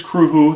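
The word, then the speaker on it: Cruthu: the band's name is Kru who it is not spelled at all how it is pronounced it is a Gaelic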